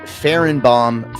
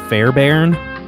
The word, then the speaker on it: Fairbairn: What'd you say his name was? Farrenbaum. His name's Farrenbaum, isn't it? I think it's like Fairbairn. or something. I don't know.